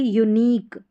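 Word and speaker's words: unique: अब यहाँ पर फिजिक, क्यू नहीं बोलते, फिजिक बोलते, क्यू यू को आप क प्रोनाउंस करेंगे। और यह है यूनिक, क्या है, यूनिक।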